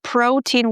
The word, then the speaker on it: protein: By the way, in the word protein we have the O sound in the beginning, pro, and then teen. And make sure you pronounce the long e.